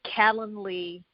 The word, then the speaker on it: Calendly: if we're speaking generically calendly and it felt like the word calendar except with instead of having the ER at the end of the word you would have ly and then acuity which